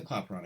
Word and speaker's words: Clapeyron: this wrong all along no it's it's the clapeyron equation so I've been saying it correctly I